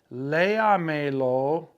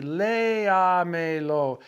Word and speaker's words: léamelo: So when you say, read it to me, léamelo, I'm still stressing the E, léamelo. You have to go 4 back and put your accent mark because, again, Rule A says words that end in a vowel, N or S, should be stressed 2 vowels back.